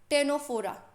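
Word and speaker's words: Ctenophora: और इंग्लिश में ये जो टेनोफोरा की स्पेलिंग है ना, ये ध्यान रखना कि इसमें सी जो होता है ना, सी जो होता है वो बेटा साइलेंट होता है।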